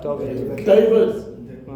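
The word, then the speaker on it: דוד: makes is V and the sound that the D makes is D now try and say that together what does it sound like David that's David's name in Hebrew con see so so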